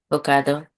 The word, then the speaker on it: Hokkaido: Hoko. Hoko. Hokkaido.